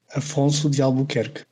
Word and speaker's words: Afonso de Albuquerque: After so badly butchering Alfonso's name, I asked my Portuguese friend Antonino for the correct pronunciation. So here it is. Afonso de Albuquerque.